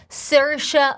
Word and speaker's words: Saoirse: As she says it herself, Saoirse like inertia.